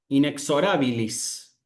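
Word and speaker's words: inexorabilis: Eh, ¿dónde dónde vamos a acentuar? Y es lo correcto en la a. Inexorilis.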